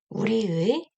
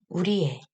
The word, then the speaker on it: 우리의: 우리의, 우리의. 네, 두 가지 모두 발음이 가능하죠.